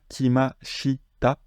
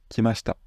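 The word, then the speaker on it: 来ました: afficher voilà qui m'achita mais quand je le prononce vite c'est qui machta vous dites pas qui m'achita vous dites qui Masta ça c'est un phénomène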